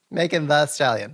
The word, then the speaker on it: Megan Thee Stallion: Did I pronounce that correctly, Stephanie? I really just think it's Megan Thee Stallion. Megan the Stallion. There we go.